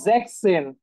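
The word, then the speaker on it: sechs: ওয়ান দেখেন সিক্স হ্যাঁ সিক্স কে আমরা কি বলি জ্যাক্স বলি না এটার যে উচ্চারণ সেটা একটু ডিফারেন্ট সেটা হচ্ছে জ্যাক্স এন জ্যাকসেন আচ্ছা অনেকের প্রশ্ন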